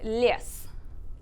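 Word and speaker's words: лес: Les. Yeah, that was pretty close. Les. Yeah, it's les.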